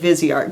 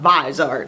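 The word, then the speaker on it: Viseart: the balm or viart I'm really trying to say it vizart cuz I know that's how to say it now it's not visart like I like to say I mean I've done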